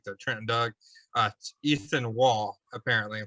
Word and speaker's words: Waugh: trenton doug uh ethan wall apparently like vince vaughn but without the end yeah with a w so i complete surprise